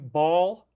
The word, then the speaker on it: Baal: and Carthage was worshiping Baal, or Baal, I guess you could also call it that. But remember, you got in the DS, they often use the Baal pronunciation like Balenciaga, Cabal. Okay, these are all things that They don't say Baal, they say Baal. So it's both.